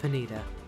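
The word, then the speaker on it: Ponyta: It's pronounced Panita.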